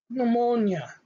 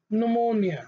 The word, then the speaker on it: pneumonia: so for p n so it should be pronounced as letter n so the example is pneumonia pneumonia okay pneumonia which means implementation of the lungs okay the